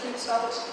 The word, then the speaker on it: Creutzfeldt: That is spelt, as in a variant, CREUTZ VELDT, Creutzfeldt.